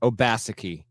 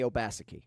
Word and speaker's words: Obaseki: Okay, so I'm going with the play-by-play guys' phonetics here. Obaseki. That's correct. Manny Obaseki. Because I heard Obaseki multiple times. See, you Northerners, man, y'all don't know how these guys pronounce things down here. It's Obaseki.